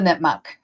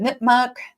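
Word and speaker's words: Nipmuc: So, let's talk about the Nipmuk. Um, you can pronounce it nipmuk, nipmuk.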